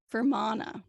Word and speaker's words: Fermanagh: I know I'm saying that right. I looked up how to pronounce it. And it's like Fermanagh.